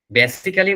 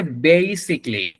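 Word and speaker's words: basically: এখানে উচ্চারণটা খেয়াল করেন আমরা এই শব্দটার অনেক ভুল উচ্চারণ করে থাকি বেসিকলি বলি বেসিকলি বলি বেসিক্যালি বলি এরকম তো এখানে উচ্চারণ যেটা হবে বেসিক্যালি বেসিকলি দুইটার একটা উচ্চারণ না এর উচ্চারণটা হচ্ছে বেসিকলি বেসিকলি আমি বাংলা লিখে দিচ্ছি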